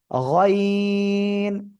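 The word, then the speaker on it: غين: এই জায়গা থেকে আপনার মোটা আওয়াজে তিন আলিফটা নিয়ে উচ্চারণ করতে হবে। গয়িন।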